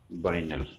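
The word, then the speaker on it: vinyl: जैसे बिनाइल भी बोलते कभी कभी उच्चारण में। तो सही उच्चारण है इसका बाइनल।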